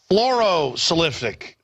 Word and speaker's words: fluorosilicic: How do you pronounce it? Hydrophilosic acid? Fluorosilicic.